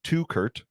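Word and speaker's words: Teuchert: Louis City SC are closing in on a deal to bring Cedric to Kurt. So like if you have two guys named Kurt, that's how I'm going to remember how to say it.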